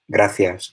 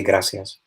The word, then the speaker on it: gracias: of Spanish, that pronunciation, where you don't say, let me say, gracias, you say gracias. You don't pronounce that th, like in European Spanish, because when I speak